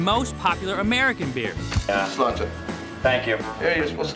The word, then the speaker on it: Sláinte: Sláinte is the Irish for cheers. Sláinte.